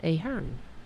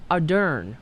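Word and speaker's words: Ardern: time with her name jacinda ahern oh no adern adern that's it jacinda adern from uh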